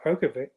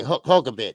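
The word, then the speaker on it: Hrgović: I got Philip Prokovic. Yeah. Okay. Hulkabit. There we go. Yeah. Spelled with an H.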